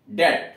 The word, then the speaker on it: debt: और जो लिया गया वह DET, उसका उच्चारण होता था DET, डेट।